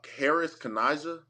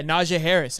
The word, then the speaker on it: Najee Harris: the field this season is I don't know Harris Kanaja, I believe that's how you say his name. Yeah, Najee Harris.